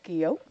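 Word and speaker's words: guyot: mountain or a Geo it's pronounced weird but it's spelled g-u-y-o-t Geo and so right now uh ROV Hercules is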